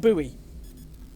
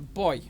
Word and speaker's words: buoy: that commander okay sorry americans but it's not buoy it's funny con boy yes i know it's spelt b-u-o-u-y but it's not pronounced buoy it's pronounced a boy there you go he sounds angry something must